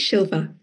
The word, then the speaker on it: Silva: Is it Silva? I think it's I think it's Shilva. Shilva. There we go.